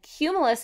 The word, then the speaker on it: cumulus: say it cumulus alright let's count the syllables in the word cumulus are you ready ready cue ma yes how many syllables my friends that's right three cumulus has three syllables and cumulus is a really really